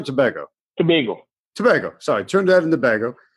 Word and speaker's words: Tobago: Sorry, Trinidad and Tobago. And I put the accent on the wrong syllable, I suppose.